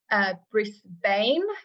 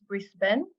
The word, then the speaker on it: Brisbane: Find out it's in Brisbane, which is not how you pronounce it. I very quickly learned it's Brisbane.